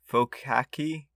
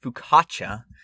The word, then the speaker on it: focaccia: everyone's favorite game how much will brian brutalize pronouncing another word focky we're gonna have to look this up apparently it's pronounced fukacha so uh yeah i was way way way